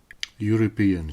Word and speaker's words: European: For example, European starts with E, which is vowel. However, we use a because it pronounced like the letter Y.